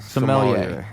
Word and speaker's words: sommelier: Sommelier. Yes. Says it's pronounced sommelier.